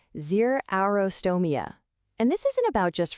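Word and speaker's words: xerostomia: It's pronounced zerostrotoia.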